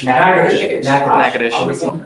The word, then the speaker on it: Natchitoches: I butchered the pronunciation, but Natchitoches. Yes, What is it? Natchitoches.